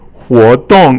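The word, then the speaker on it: 活动: So 活动 is the next one, and it's actually second tone, 活, and then 动 is actually 轻声, it doesn't have a tone. Usually it's fourth tone here, but 活动, I guess it becomes silent, the silent tone with nothing there.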